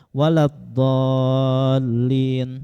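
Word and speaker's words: ولا الضالين: Seperti huruf za dengan dad ya. Waladdallin. Nah, sebagian orang itu membacanya dengan za. Waladzallin. Maka para ulama menjawabkan ini sah.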